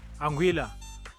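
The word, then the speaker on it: Anguilla: Anguila, pronounced exactly as you think.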